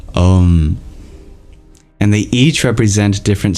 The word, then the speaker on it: Om: just the M sound so in order of most correct pronunciation to least we have at the top here the second here oh and the third om and they each represent